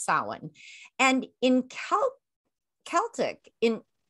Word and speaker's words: Samhain: like it's damn highly announced yeah but it's pronounced salon and in cal celtic in i believe it